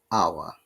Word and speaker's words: hour: for you this british idea at the beginning hour hour and look at the american ip our r must be pronounced as i said british english is always